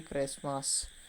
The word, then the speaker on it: Christmas: Option C T is the silent letter. When we pronounce Christmas, the silent letter T, we does not pronounce Christmas. We pronounce only Christmas.